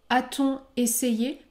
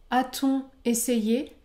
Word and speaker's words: a-t-on essayé: est inversé par exemple a-t-on essayé a-t-on essayé je ne prononce pas le N après le mot on essayé ou encore ont-elles